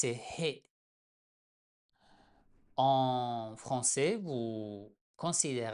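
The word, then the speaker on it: ح: letter, it's He. In French, you consider h as a vowel most of the time. But in Persian, it's pronounced. It's as if you're breathing.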